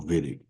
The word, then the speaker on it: Wittig: at here is the Wittig reaction. I know it's spelled with a W, but it's a German word, so you pronounce it with a V. So Wittig, right?